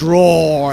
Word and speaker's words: RAWR: out from i think we are mispronouncing their name it's roar and they will be